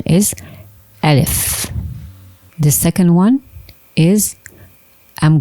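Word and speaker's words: ألف: The pronunciation is Alif.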